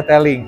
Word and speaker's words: Tailg: Dan saya tertarik dari unit yang menurut Teling gitu ya, Teling dibacanya Teling kalau di Cinanya.